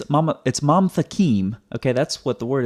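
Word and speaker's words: מַמְתַקִּים: So it's not mamatakim, it's mamtakim. That's why when you look at the transliteration over here, it's one syllable, mam, not mama.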